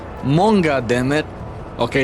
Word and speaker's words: manga: Not manga. It's pronounced monga.